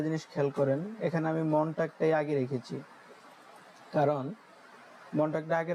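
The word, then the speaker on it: Montag: এবং যাদের প্রোনাউন্সিয়েশনের সমস্যা তারা বাংলাটাকে ফলো করতে পারেন, তাই বাংলাও দেওয়া আছে যাতে আপনাদের উচ্চারণ করতে সমস্যা না হয়। দেখেন এখানে প্রথমটাই হচ্ছে মনটাগ, যেটাকে আমরা সোমবার বলি বা মানডেই বলি।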